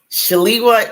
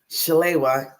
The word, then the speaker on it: Shalewa: two ways to pronounce it. Shaliwa is the African American way. Shalewa is the Nigerian way. So my name is actually Yoruba. It's from Nigeria.